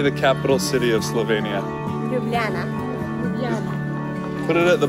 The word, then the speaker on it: Ljubljana: How do you say No, it's silent, It is silent, yeah. How do you say the capital city of Slovenia? Ljubljana.